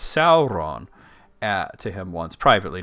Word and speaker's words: Sauron: things wrong like my friend Sid km says sarin all the time instead of Sauron and I said it's Sauron to him once privately not like on a